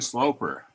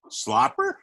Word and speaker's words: Sloper: they think that is they pronounce it like there's two peas Oh slopper hmm my mind kept